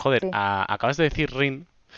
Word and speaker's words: Rin: mismo porque hasta ahora yo siempre pronunciaba Ren o... Sí, como así, ¿no? Solía pronunciar Ren o cosas así, o sea, como lo leía más hispanizado que otra cosa.